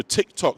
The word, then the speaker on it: TikTok: So TikTok spelled like that. So it's not the Chinese T-I-K, T-O-K. It's T-I-C-K. Hickory dickory dock. TikTok, right? The clock.